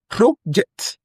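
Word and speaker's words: project: The first stress pattern rest on the first syllable. And the correct option here will be pro-ject.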